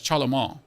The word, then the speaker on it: Charlemagne: Charlemagne. I hope I pronounced that. Charlemagne. Ma, not main. Ma.